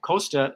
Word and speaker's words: Kostas: I'm not sure if that's proper, but I did learn that Kosta is the S is silent.